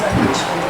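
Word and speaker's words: Puig: Now he's going to say it's Peach, and it's P-U-I-G, and it's because of a French name and generation where they have done that, but it's spelled P-U-I-G.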